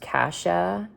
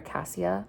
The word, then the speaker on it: Cassia: so basically I know her name is supposed to be pronounced casha the author said but I I prefer Casia I don't know why